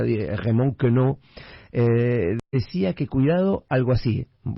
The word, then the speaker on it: Raymond Queneau: El escritor francés, no es por agrandarme, lo voy a pronunciar a la francesa, Raymond Queneau, decía que cuidado, algo así, decía cuidado con sacar esas cosas que llamás defectos.